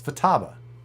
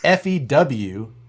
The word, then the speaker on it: Futaba: No, you're saying few. There's no little long thing above the U. It's Futaba. You might want to check with the Futaba people. Futaba people will agree with me. It's not FEWTABA.